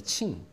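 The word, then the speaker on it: 清: 청이라고 하는 말글 청자 그 청을 중국어 발음으로 하면 층이라 그럽니다 칭 근데 그 청칭 중에서도 청제국의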